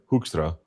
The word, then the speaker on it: Hoekstra: That's a very Dutch last name pronounced Hstra. And how do the Dutch say it? No, that's how they say I mean I mean it would be more like Hoostra, but it's uh they they roll their Rs.